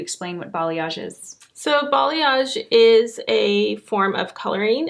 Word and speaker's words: balayage: Does balayage, did I say it right?